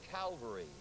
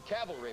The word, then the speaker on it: cavalry: Air the Army Air I agree the US calvary or cavalry rather I I he could have been on